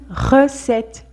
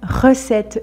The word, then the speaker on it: recette: un peu plus forcé quand le R est au début du mot donc ici au début du mot par exemple on a une recette une recette le R est assez prononcé alors que dans ce